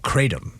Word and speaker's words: Kratom: Kratom.